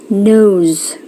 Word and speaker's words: nose: Harus huruf S dibacanya Z. Biasanya kalau apa? Kalau dia berada di antara 2 vokal. Nose.